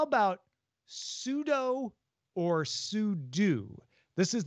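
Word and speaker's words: sudo: what do you think so technically it stands for super user do so it should be sue do but everyone and I say this as somebody who has made like over a hundred videos about the Linux command line everyone says pseudo I don't know anybody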